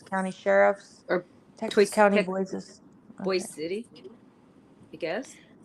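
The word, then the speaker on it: Boise City: the opposite way you're calling it boy city boy City and Boise like Boise like everybody pronounces it Boyce there they corrected me Boise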